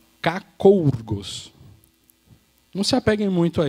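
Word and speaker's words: κακοῦργος: A pronúncia dela, né, um transliterado aqui do grego, é kakourgos.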